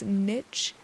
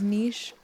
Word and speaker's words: niche: Pretty a languagebased pet peeve for me is when people pronounce the word niche as niche. And maybe I would too if I hadn't learned back in sixth grade that it was pronounced as niche.